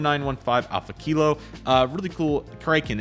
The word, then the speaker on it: Kraken: Kraken. It's Kraken. That's it. I was like, I couldn't think of how to say it, but it's Kraken.